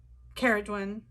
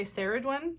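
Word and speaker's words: Ceridwen: Caradwen. Like, I honestly had no idea how to pronounce it. I always wanted to say Saradwen, so to know it's Ke is really helpful.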